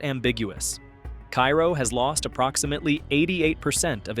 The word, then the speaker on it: Cairo: Cairo, pronounced Kay-row, sits at the southernmost tip of Illinois, where the Mississippi and Ohio rivers converge.